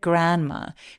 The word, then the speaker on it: grandma: food to her sick grandma grandma라고 안 하죠 왜냐면 자음이 이렇게 뭉쳐 있을 때 중간에 있는 발음 삭제됩니다 who lived in the